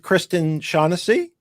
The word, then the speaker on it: Kristen Shaughnessy: and we are now live I'm here with Kristen shaunessy good so happy to see you I hope I pronounced your name correctly by the way you